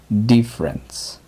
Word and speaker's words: difference: Aquí también se pronuncia solo dos sílabas, difference.